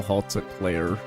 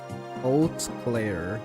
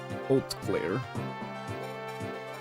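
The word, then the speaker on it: Hauteclere: It's French old clear. Oh, oatsy. Wait. Oh, no. Oat. Old Clare. Yes. Old Clare. The H is silent. Ult clear.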